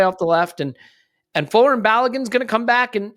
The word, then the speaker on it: Balogun: But Balogun's trajectory is also part of this equation. So do you have a thought on It's pronounced Balogun. Balogun? Yeah, Balogun. Buy a gun.